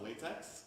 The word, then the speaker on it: LaTeX: Anyone here know what LaTeX is? A couple? All right. But, no? It's not pronounced latex, it's LaTeX.